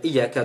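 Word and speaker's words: إِيَّاكَ: Si vous dites Iyyaka, si vous vous contentez de dire Iyyaka de manière tout à fait normale, c'est là où l'on peut tomber dans l'erreur. Donc, bien prononcer la shidda sur la lettre Ya.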